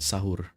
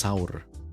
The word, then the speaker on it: sahur: in Indonesia is called sahur. It's pron it's pronounced sour actually it's not sahur sa sour s that's